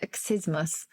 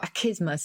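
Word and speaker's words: accismus: get it well because this word excismus or akismus if you i think you can pronounce it either way probably now a double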